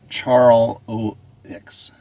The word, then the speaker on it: Charlevoix: Pretty sure you're pronouncing it wrong. It's Charlevoix. Charlevoix. Charlevoix.